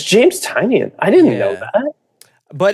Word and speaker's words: Tynion: Yes, James Tynion, Michael Dial. I don't know how to say his name. Oh, it's James Tynion.